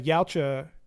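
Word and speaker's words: Yautja: The problem again for me is like it reframes the ya. Is that how you say it, Jason? Yes, sir. Yeah, the Yaocha, you know, they're not just this one one-dimensional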